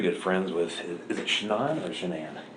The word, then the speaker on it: Shanan: friends with is it chanan or shenan it's shenan you pronounce it like shenanigans oh everybody calls her